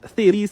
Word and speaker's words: Thales: This is pronounced Thales theorem.